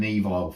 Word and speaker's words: Evile: Evile and the Unknown. I've actually got the name correct. I contacted an Evile fan, spoke to him, and he told me that's how you pronounce it.